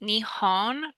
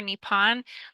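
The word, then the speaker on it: 日本: The Japanese word for Japan, which is pronounced Nihon or Nippon, literally means the origin of the sun.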